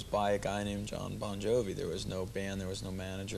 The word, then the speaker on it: Bon Jovi: your actual name is Boni isn't no it's pronounced bonjovi it's just the the phonetics in Italian the GI is a j sound right you so you're